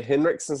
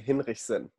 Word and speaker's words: Hinrichsen: Well, I would say Hinrichsen so people understand. If I said it in German, it would be Hinrichsen. Hinrichsen. But that's how you break your throat. So Hinrichsen, Hinrichsen, all of that works.